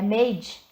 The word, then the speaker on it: Maid: ali o Google Tradutor como é que se pronuncia né é made o nome da série então mente lá no